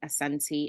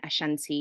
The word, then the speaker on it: Asante: the same um thing in Ghana is actually Asante and Ashanti is the sort of um English way of pronouncing um Asante so forgive me for